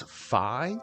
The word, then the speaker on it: Fi: seen me playing Ed would you pronounce that as fi or fee personally it's fi it's like f f f f yeah uh but